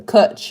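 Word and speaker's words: cwtch: my favourite Welsh words a coach is spelt see W tch by the way not see you TCH big Phil I was going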